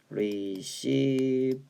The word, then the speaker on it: reciprocal: 이게 뭐냐면 reciprocal 리시프로컬이라고 읽어주셔야 되거든요.